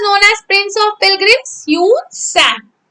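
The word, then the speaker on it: Hiuen Tsang: Yun Sang. Spelling of Yun Sang is H-I-U-E-N. Yun Sang. T is silent. S-A-N-G. Sang. How you will read this word?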